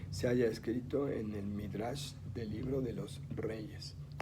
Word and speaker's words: Midrash: Ustedes la tienen ahí escrita, nada más no se pronuncia sin la H, aquí no aparece como Midrash, pero el nombre correcto es Midrash.